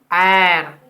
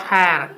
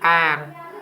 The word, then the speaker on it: heir: Honor, honorable person, honest man, heir, not hair, heir, house, and there is